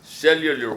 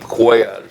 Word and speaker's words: Cuellar: Cuellar from Westlaco, and he used to refer to both of you as Cellular 1 and Cellular 2 back then. And I'm still laughing because I don't see how anyone could not pronounce the name Cuellar.